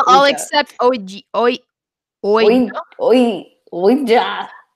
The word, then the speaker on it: Ouija: Okay, but I thought it was actually like Alja for the longest time. Because Same. I like, it's spelled like that. When I heard that was pronounced Ouija, I was like, but it doesn't fucking.